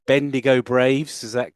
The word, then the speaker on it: Bendigo: Then am I pronouncing this right? Bendigo Braves. Is that correct? Bendigo Braves.